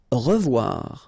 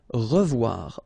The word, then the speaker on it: revoir: Revoir. Okay, remember to pronounce this E like a E. Re, revoir. O, E together is pronounced like wawa. Revoir.